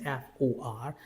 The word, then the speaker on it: for: So we have a rule in British English, like we normally do not produce or pronounce the English alphabet R, and we do not pronounce raw after the vowel sound. That means F-O-R. Now you can say for. Try to say it. F-O-R, for.